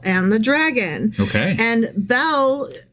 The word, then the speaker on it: Bel: to spell it, and you thought it was like a girl's name, like Belle. Right. Or something like that. Yeah. But it's more like the god Bel, so think L-B-E-L.